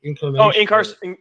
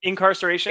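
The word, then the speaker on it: Inkcarceration: Incarnation. Incarceration.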